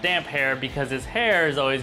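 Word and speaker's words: Damphair: it differently they say damp fear george RR martin admits that he probably should have put a hyphen in the name but it is pronounced damp hair because his hair is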